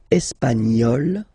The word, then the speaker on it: espagnol: And then l'Espagne, espagnol, remember, espagnol, espagnol. So you get this final E for the feminine form, but then phonetically it's the same.